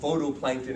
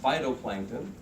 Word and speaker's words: phytoplankton: You can call them photoplankton if you want, but they're kind of pronounced phytoplankton.